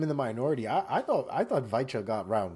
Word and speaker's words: Weichel: Daniel Weichel. Weichel with the V.